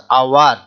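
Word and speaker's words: hour: 60 minutes make dash আওয়ার, এখানে consonant আছে এইচ, কিন্তু উচ্চারণের সময় কি আসছে? আওয়ার, আওয়া, আ আসছে স্বরবর্ণ, তাই এখানে কনসোন্যান্ট থাকা সত্ত্বেও এখানে ব্যবহৃত হবে কি?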